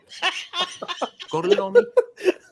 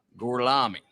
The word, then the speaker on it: Gorlami: Gorlomi? Lo pronuncio correttamente? Sì, corretto. Gorlomi? Per cortesia, me lo ripeti ancora. Gorlami.